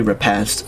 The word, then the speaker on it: repast: what is that word re repass pronounce it's literally repass okay and it means